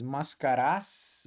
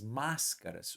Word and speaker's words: máscaras: cair não né as máscaras Ou aquele desenho né O Máscara Veja a sílaba tônica tá aqui ó e ela não é a primeira cuidado tem muita gente que